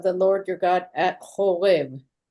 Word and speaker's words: Horeb: Horeb is another word for Mount Sinai. So that What was is it? How do you say? Horeb.